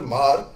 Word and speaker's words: Hmar: lot of Mar population, HMAR, it's pronounced as Mar. So where the Mar population which have an affinity towards Mizoram, but which comes overall under the Kuki umbrella basically.